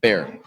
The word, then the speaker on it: Baer: Bear. Baer. Bear. And Yeah, you're- like pronounced like the animal, but spelled a little differently.